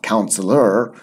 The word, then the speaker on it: counselor: Don't forget that pronunciation in English. We don't have an R sound. In American English, they've got a very small R sound, so it's like counselor in American English, but in British English, it's just counselor.